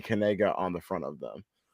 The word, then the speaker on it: Knigga: So, I'm sure most people have heard of there is a a football player, his name is Noah Kanega, but Kanega is spelled K Ni G- A.